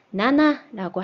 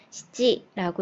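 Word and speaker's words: 七: 얘네들은 똑같이 예를 들면은 7이라는 숫자가 나나라고 할 때도 있고 시지라고 읽을 때도 있어요.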